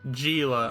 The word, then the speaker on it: Gila: And I am Gila, her attendant. Gila. Alright, soft G.